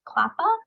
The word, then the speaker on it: CLAPA: I'm the Director of Cross-Sector Initiatives here at CLAPA. That's how we pronounce that acronym.